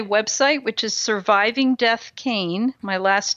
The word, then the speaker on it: Kean: go to my website which is surviving death cane my last name attached dot-com and on that